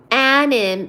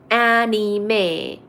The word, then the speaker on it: anime: matad Hatter stay on the live and drink anim is pronounced anime do you even speak Japanese no because I'm